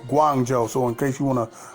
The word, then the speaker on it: Guangzhou: just wanted to make a correction on the pronunciation of the city that's buck wild and over there in China is Guangzhou I might have said Wan Joe I'm not sure but I just want to make sure I'm pronouncing the city right Guangzhou so in case